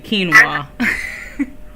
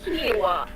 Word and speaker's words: quinoa: Is that how you say it, quinoa? I've never knew how to say that word. Is that how you say it? Yeah, I had to slide that in for you, quinoa. Ooh, quinoa.